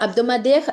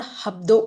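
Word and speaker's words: hebdo: Then we have abdu. It's not habdo. Okay. Please be careful. It's abdu. H is silent.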